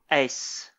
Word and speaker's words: Uys: Ace. Yeah. It's technically not the same as the ace card in your deck of cards. But if you pronounce it that way, no one will give you the side eye.